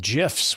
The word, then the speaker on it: GIF: And we're going to talk about memes and GIFs, which I love. Is it GIF or GIF? It is GIF, even though it's got a G.